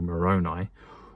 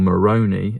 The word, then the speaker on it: Moroni: the angel Moroni or Moroni as it's cleverly mispronounced in the heretic film which is about Mormons and then it turns into a horror as they go underground.